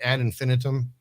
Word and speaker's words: Ad Infinitum: Did you have a solo project before Ad Infinitum? Now, and this is another thing. Am I saying the band right, Ad Infinitum?